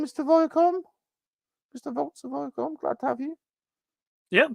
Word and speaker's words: Iacon: Vaults of Viacom. Iacon. Viacom. Mm-hmm. Yeah, Iacon. Very good.